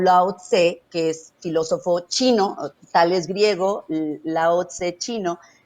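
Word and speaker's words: qi: Que El se chi, por escribe ejemplo, la energía del Q-I y se pronuncia chi.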